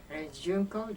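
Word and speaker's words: Junko: JUNCO, well, first of all, would you spell and pronounce your full name for us, please? Okay. JUNCO, J-U-N-K-O, and last name.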